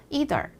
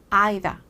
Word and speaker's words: either: 사람은 어떻게 발음하나 들어볼까요 2라고 발음하는 사람도 있지만 i라고 발음하는 사람도 있어요 그래서 이더 이덜 이덜 이런 미국 발음 혹은 아이다 아이다 아이다 이런 영국 발음 또 중간이 섞여서 아이돌